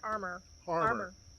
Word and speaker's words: Harmar: And our experience with Harmar, am I saying it right? Harmar. David said it was Harmar. Harmar.